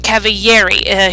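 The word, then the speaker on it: Cavalieri: That's right, Caviieri. He's an Italian mathematician. The L is pronounced like a Y.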